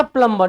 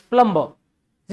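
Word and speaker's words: plumber: लिखा हुआ है, प्लम्बर, इट्स नॉट प्लम्बर, इट्स प्लम्बर, इट्स प्लम्बर। क्या है ये? प्लम्बर। ब को उच्चारण नहीं करना, क्या पढ़ना है? प्लम्बर। समझे बात को? प्लम्बर। क्या पढ़ना है आपको? प्लम्बर पढ़ना है। समझे बात को? ब नहीं है।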